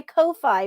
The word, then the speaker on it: Ko-fi: pull up the exquisite corpse it's on my ko-fi page i'm sorry kofi i looked up how to pronounce that on my kofi page if you